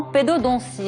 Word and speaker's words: pédodontie: Vous êtes spécialiste en pédodontie. Est-ce que je l'ai bien prononcé?